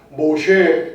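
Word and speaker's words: משה: 근데 히브리어는 모세가 아니라 모쉐 그래요. 모쉐. 그 히브리어 발음이 좀 틀리죠.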